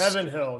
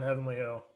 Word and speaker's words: Heaven Hill: It's Heaven Hill, not Heavenly Hill.